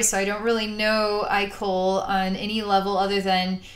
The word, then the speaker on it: Ikol: if I would do a channeled video with I Cole which is one of the characters in the